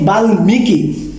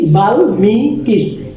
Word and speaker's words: বাল্মীকি: এই যে আমি বলছিলাম এখানে যদি ল থাকে, ট থাকে, গ থাকে, দন্তন্য মূর্ধন্য থাকে, তাহলে এই ময়ের উচ্চারণ বজায় থাকবে। এই জন্য এটা হবে কি বাল্মীকি।